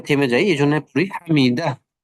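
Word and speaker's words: حَمِدَهْ: ওকে, আচ্ছা, কিন্তু আমরা এখানে থেমে যাই, এই জন্য পড়ি হামিদা। এবং এটা আমরা হা আছে এমনটা স্পষ্ট উচ্চারণ হওয়াটা দরকার, হামিদা।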